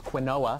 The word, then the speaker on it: quinoa: Also known as quinoa, the correct way to pronounce it.